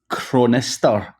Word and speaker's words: Chronister: I'm crazy and as Adam crow nesstar hopefully I've got that memory Adam you got it you're one of the few that actually can pronounce my last name so congratulations and that's